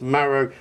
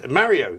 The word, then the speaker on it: Maro: But instead, it turned out he had an interview with Maro Itoje, but then said. It got his people to issue a statement saying that it was Mario Itoje, which of course got his name wrong.